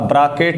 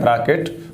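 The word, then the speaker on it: Brackett: और इसका नाम पड़ा ब्रॉकेट सीरीज ब्रा केट सीरीज ब्रॉकेट सीरीज एक वैज्ञानिक है ब्रॉकेट उसी का नाम ब्रैकेट नहीं ब्रॉकेट सीरीज ठीक है तो चौथा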